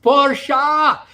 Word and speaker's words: Porsche: who else we got here we've got um pronounced parsha dhl trend reversal tomorrow and amazon all right